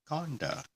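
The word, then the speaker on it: kāṇḍa: section that I have we called it a scandal you call it a condo which barely is wrong because I actually took a look at how it's spelled where the diacritics fall and it is Conda Conda and this is the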